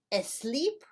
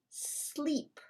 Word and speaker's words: sleep: Is it asleep or is it sleep? It's sleep. We don't say go to asleep. Go to sleep. Why? Because we do not use the letter E as a help to pronounce the letter S when the letter S is the first letter of the word.